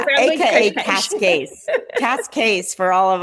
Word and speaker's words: Cascais: is Portuguese, and she Ah, says it's Cascais. I think I said it right. You know how I like to pronounce words in different languages and names.